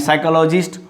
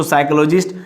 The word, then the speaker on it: psychologist: And psychologist, one who studies psychology. that is called psychology. IST refers to person. So psychologist, here is P is understood, P is understood, P is understood, P is silent, P is silent.